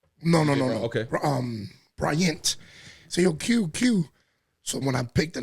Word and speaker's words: Que: Yo, it sounds like, DJ, Quest, or Spanish people say DJ KK.